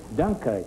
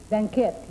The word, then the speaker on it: Dunkerque: Dunkirk. Dunkerque, yes. Yeah. How do you say Dunkerque. Dunkerque.